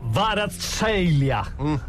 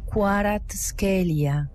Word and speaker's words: Kvaratskhelia: Vita Varatskelia. No? Lontano. Qui c'è Kvaratskhelia. Quello qua. Anche se l'esatta pronuncia che io ho trovato sarebbe Hvisha, Kvaratskhelia.